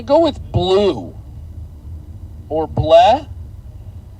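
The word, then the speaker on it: Blea: Or bleh. Bleh just sounds not right, but it's spelled B-L-E-A. I hope that's pronounced correctly when I say bleh.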